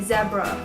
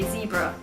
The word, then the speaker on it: zebra: It was like really different, so people got really confused if I'd say zebra and they'd say zebra.